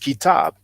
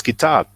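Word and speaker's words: كتاب: he will know that the KTB is pronounced kitab.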